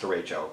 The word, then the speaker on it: derecho: A lot of comments that, yes, derecho is pronounced derecho. Listen, I'm from the Midwest. We say things funny out here. Yes, derecho is not a word. Derecho is a word. You know, Spanish straight line because it's a straight linear weather system.